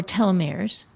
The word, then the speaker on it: telomeres: I I was familiar with telomeir um or telomeres. Is that how you pronounce it?